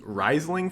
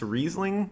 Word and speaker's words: Riesling: but yeah I was I've been pronouncing it as Riesling forever its Riesling apparently so that's a hint